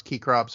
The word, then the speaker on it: Cecrops: Cecrops, Keycrops, however you want to pronounce it.